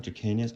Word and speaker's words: Dracaena: This is I always thought they were called Dracaenas. I think they're actually called Dracaena. I think I've always said it wrong, but I love these because, like, oh, I just love them.